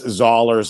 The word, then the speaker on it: Zollers: to pronounce his name says it's zers like dollars and I think that's